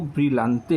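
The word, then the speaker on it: Brillante: तो ये जो लास्ट ऑप्शन है इसका जो प्रोनाउंसिएशन है वो ब्रिलते होता है।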